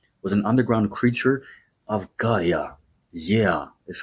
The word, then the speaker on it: Gaia: Python, as we say the word in Greek, was an underground creature of Gaia. Yeah, is how we pronounce the word Gaia, the original goddess of the Earth.